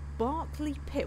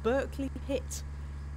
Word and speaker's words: Berkeley Pit: It's called Barkley Pit. Well, they'll pronounce it Berkeley over there. Berkeley Pit.